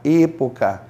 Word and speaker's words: época: A pronúncia correta é América, época.